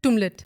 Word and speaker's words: Tumlet: Tumlet.